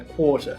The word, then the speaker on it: quarter: Agora no sotaque britânico, esse R antes de consoante, a gente não pronuncia ele, então é quarter, e a gente prolonga todo. Então agora você entendeu a existência desse padrão na pronúncia.